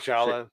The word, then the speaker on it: Shaolin: Margaret Shaolin. Shaolin.